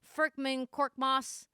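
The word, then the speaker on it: Furkan Korkmaz: Furkman Korkmaz, pretty sure that's how you say it.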